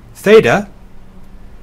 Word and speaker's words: theta: the ey in obey theta is a single Greek letter the that is equivalent to two English letters together it is th as in thing Yoda is the short